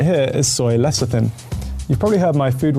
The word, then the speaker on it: lecithin: This one right here is soy lecithin. You've probably heard my Food Wars co-host Joe mispronounce this one a million times. Lecithin.